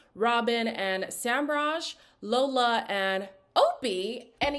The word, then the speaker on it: Opie: They are followed by Angelista and Lorenzo, Robin and Samraj, Lola and Opie, and y'all told me it was pronounced Ope, like O-K-P-E, but he said his name is Opie.